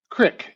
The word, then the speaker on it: creek: campas c m as Crick and I'm from Montana when you pronounce the the name of streams correctly C re K is crick in Montana and uh that comes